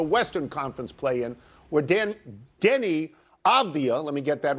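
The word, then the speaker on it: Avdija: I'm not going to get into Avdia, even though I'm finally pronouncing it correctly.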